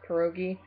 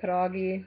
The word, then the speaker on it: pierogi: eat a pdoggy yes sorry for the way i pronounce it it's pierogi i was actually raised to say padagi because my mom's polish but i love them favorite